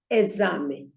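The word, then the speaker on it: exame: it is a zombie it is written with an X just like in English and you pronounce it as esame all right then there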